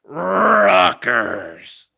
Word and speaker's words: Rutgers: your school's name right it's it is it's rockers like Vince McMahon that's how you say it okay it's an